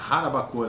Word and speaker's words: Jarabacoa: Jarabacoa, na verdade, né, a pronúncia.